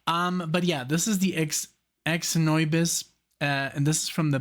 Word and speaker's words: Xnoybis: This is from 1994, and this is called Xnoybis. Like xenomorph, almost like, you know, that's what I told him. Or like the alien, you know, the xenomorph, the alien. But yeah, this is the Xnoybis, and this is from the band Godflesh.